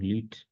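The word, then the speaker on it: Lüth: ir matizando con el el nombre LU. Y la U lleva dos puntos, ¿no? Es la diéresis, ¿no? Por eso la pronunciación LUT, el caso Lut, que alude a que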